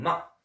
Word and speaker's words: 吗: Donc Ma, qui s'écrit M-A sans aucun ton, ton neutre, ton léger, en chinois ils disent.